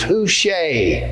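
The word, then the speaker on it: Hushai: hypothal david jonathan and who she sounds sort of like touche doesn't it so i think the right pronunciation is who shea on his name and then watch for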